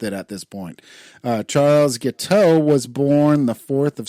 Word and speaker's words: Guiteau: Oh, it's French. It's Guiteau is what it is.